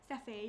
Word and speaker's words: Cephei: How would you pronounce that? CEPHEI. Sephi? Sephi, yeah.